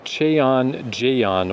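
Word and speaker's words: Cheonjeyeon: But this is Chon Jon Waterfall. And if that sounds exactly like the name of all the other waterfalls, very good. Good job. It's spelled slightly different. C H E O N J E Y E O N.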